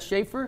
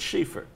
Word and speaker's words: Schieffer: to say about Bob schaer no just say pronounced schaer it's schaer not Schaefer it's Sheaffer oh what about what oh schaer is the